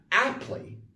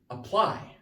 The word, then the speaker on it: apply: stronger app but this you're not aptly you're apply because it's a verb with two syllables so apply the ply is the stress part like you should apply